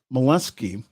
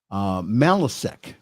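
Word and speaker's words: Malesic: institutional Faith formation Bishop Edward C mollusky or excuse me malisec I think that's how you pronounce it Edward C malisec and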